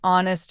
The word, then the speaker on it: honest: An honest man. An heir. The h is not pronounced in these words.